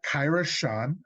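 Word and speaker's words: Kyra Schon: Then we have Kyra Sean, I believe that's how her name is pronounced.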